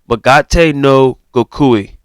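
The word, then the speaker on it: 身勝手の極意: The Japanese version is called Magate no Gokui. Magate no Gokui. Okay, that's how you pronounce the Japanese version.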